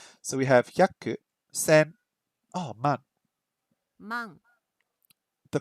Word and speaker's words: 万: So we have hyaku, sen, man. Man. The pronunciation is very similar to Cantonese. In Cantonese, the pronunciation is man. So it's a very similar pronunciation to Cantonese there.